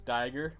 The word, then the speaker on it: Diger: I know that I might point at the wrong things, but it's Diger, it's not Digger. Digger's 2 G's.